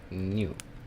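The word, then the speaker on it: 入: Then we have another kanji made out of enter, which, by the way, enter is pronounced new, enter.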